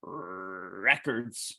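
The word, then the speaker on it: RRRecords: a record label called records it's how it's pronounced but RR eckerds but he's he called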